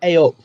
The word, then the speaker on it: eyup: No, "hey up."